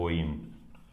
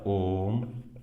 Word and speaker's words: ओम: सबसे पहले हमने देखा है लोग इसे पढ़ते हैं ओइम। ये ओइम नहीं होता है, ये लिखा होता है ओम, और ओ का 3 बार उच्चारण, उसके बाद में माँ, ओम।